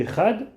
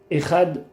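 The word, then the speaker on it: אחד: Et on doit dire assez longuement le dalet du echad.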